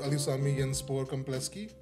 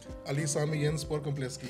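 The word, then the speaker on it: Ali Sami Yen Spor Kompleksi: So Neff Stadium, also called Ali Sami Yenspor Kompleski, is on my list. I really like the fact that you learned the Turkish pronunciation also of it.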